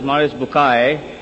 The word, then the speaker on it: Maurice Bucaille: Maurice Bucaille, pronounced as Maurice Bucaille.